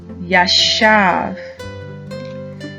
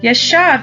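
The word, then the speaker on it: ישב: at our three new words foreign is yashav yeshav is spelled yod Sheen vet yeshav and that means to sit down yashaf our next new word is shafat shafat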